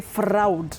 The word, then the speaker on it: fraud: But the a and u in that word, we call it a digraph. A digraph is a combination of two letters representing one sound. So, A and U combine to form the long low back sound aw. So, you say fraud.